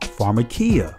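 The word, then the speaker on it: φαρμακεία: and definition of witchcraft the greek word is pronounced pharmakia it means medication medication in other words pharmacy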